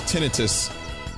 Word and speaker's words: tinnitus: Tinnitus is clearly the answer to eternal life. Or as I've heard it pronounced on a few occasions, tinnitus.